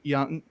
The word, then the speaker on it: Jung: You got Jace Young, it's spelled Jung, who went 12th overall to the Tigers.